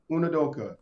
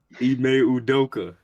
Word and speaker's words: Ime Udoka: I I know I was gonna say his name wrong. Great way to Try, begin. I don't know much about try. it. Unadoka. Yeah, great. What's his Great name? How you say his start. name? Ime Udoka.